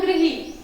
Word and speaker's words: गृह: ठीक है, तो ये है गृही, इसका उच्चारण करते हैं हम गृही।